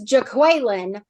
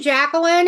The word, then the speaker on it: Jacqueline: Like he says Jaqueline, and nobody answers, and she's like, "Do you mean Jacqueline?"